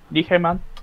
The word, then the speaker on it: Nijmegen: Martin Dressler in Nijmegen, the Netherlands. Nijmegen. I'm pretty sure I'm pronouncing that correctly because I learned from someone who's from the Netherlands.